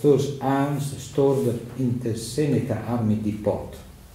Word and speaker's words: Seneca: Seneca, no? Yeah. Pronunciation, correct.